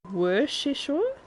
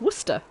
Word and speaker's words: Worcester: their way back oh you pronounce it worship it's Worcester I know it is Worcester does he say it Worcester as well my husband is Scottish and he would say Worcester you don't need the Shire part or